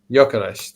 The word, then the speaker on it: Gyökeres: Gyökeres. That's It's actually a Hungarian last name.